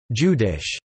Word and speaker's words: jüdisch: The German word Jude is pronounced Judi, the corresponding adjective Judish, J-Y-D, Jewish, is the origin of the word.